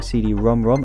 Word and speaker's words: CD-ROM²: turbo graphics console supporting cd rom rom and ld rom rom formats you actually pronounce this cd-rom rom and we've got the